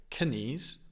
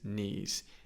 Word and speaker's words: knees: e e sound bees knees also remember the K on knes we don't pronounce so we don't say KES although I do think